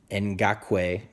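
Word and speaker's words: Ngakoue: it correctly here Yannick and got Quay I believe is how he pronounces it he had a career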